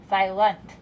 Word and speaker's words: silent: Our next syllable, lent, is our thinking syllable. We have to think lent, but we usually say lunt, silent.